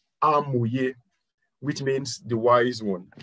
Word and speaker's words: Hamoye: But it's good to also let you know that Hamoye is a Yoruba word pronounced as Hamoye, which means the wise one.